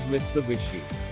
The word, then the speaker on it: Mitsubishi: rhombus or diamond shape japanese often when the h sound to av sound when it occurs in the middle of a word so they pronounced the combination of mitsu and hishee as mitsubishi and the employees were